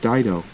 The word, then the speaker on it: Dao: I ever tell you my real name was pronounced Dao long ago some idiot mispronounced it and everyone including my own daughter called me ever since he said